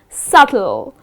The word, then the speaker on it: subtle: is silent and then the last example that i have for you on the boat is subtle again here the letter b which comes in the middle of the word well you need to skip pronouncing that letter and the correct pronunciation